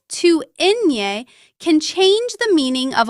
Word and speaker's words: ñ: Ñ is a separate letter in the Spanish alphabet. It is not simply an N with a decoration. Its sound is similar to the N-Y combination in the English word canyon.